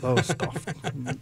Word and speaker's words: Lowestoft: What's the one from Lowestoft? Where? You know Lowestoft, England? Lowestoft? You're probably saying it wrong. Lowestoft.